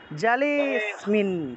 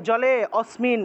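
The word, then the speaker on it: জলেঽস্মিন: দেন আনা যাবে না এখানে অনাটাকে পূর্ণ উচ্চারণ করা যাবে না জালিসমি জালিসমি জালেসমিন ঠিক আছে জলে তারপরে স্মিন জলে লেতে একটা টান দিবেন তারপরে স্মিন উচ্চারণ করবেন স্মিন জালেসমিন জালেসমিন এইভাবে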